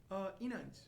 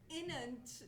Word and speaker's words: Inanç: Inanç. Inanç. Yes. Inanç. Like And- you're slightly angry. Okay. Inanç. I'm hardly angry, so Yeah.